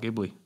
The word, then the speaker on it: Ghibli: It's apparently Ghibli, not Ghibli. We had a comment saying, "Oh, can you do more Studio Ghibli?"